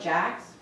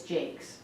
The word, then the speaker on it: Jacks: south of St Clair it's spelled Jacks it's Jake what it's j a k s it's Jake k s j a c k s it's not Jack it's Jake information so do you have